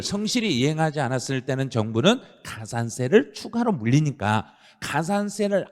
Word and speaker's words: 가산세: 추가로 뭘 더 물려버리고 발음 정확해요. 가산세. 발음 끝에 흐리면 큰일 나요. 왜냐하면 그 가산세하고 가산금의 차이를 시험에서 물어봐 버리거든요. 그러니까 그냥 가산 해버리면 시험에서는 바로 틀려버린 거예요. 가산세를 물려버린 거예요.